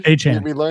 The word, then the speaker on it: Achane: Mostert, Kenneth Walker, and Travis Etienne, or Etienne pronunciation there. Achane.